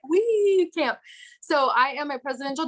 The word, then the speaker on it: Wiekamp: but i glamp but saying we go camping helps people remember my name cami and them always say it wrong but i'm like we can't so i am a